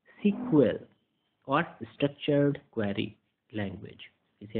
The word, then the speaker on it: SQL: That where you यूज़ SQL pronounce as सिक्वल और structured query language.